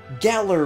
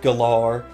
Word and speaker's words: Galar: pronouncing the region correctly they specifically said gala region at least 15 times so let's cut it out with the galore or the gala or the Galea or anything else I'm really more talking